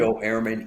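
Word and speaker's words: Ehrman: Joe Airman.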